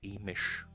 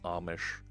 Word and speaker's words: Amish: office I don't live near the emission by the way it's pronounced Amish they are about an